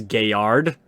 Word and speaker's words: Galliard: assume it's French no so like Galliard I say gallier because that's natural for me the actual proper pronunciation of that word is gay yard because it's French which is I can't